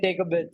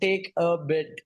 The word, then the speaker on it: TCAbit: the name yeah yeah I love the name take a bit it's like take a bit yes yes yes it took me some to